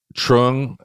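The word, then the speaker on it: Truong: one more time slowly what's her name again Trung is her last name t Ru t r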